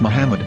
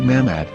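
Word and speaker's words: מחמד: yehuda's hebrew english dictionary it is correctly pronounced as muhammad not mahmod so how we're going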